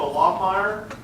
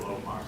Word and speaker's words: Loffmeyer: Kwok, Cindy Mason, Samantha Loffmeyer, Marissa Loffmeyer. Did I say it wrong? That's how it's spelled. Okay. We get that a lot. What is it? Low. Oh, Loffmeyer, sorry. That's a little German in there probably.